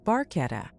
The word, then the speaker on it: Barchetta: Barchetta is pronounced barchetta.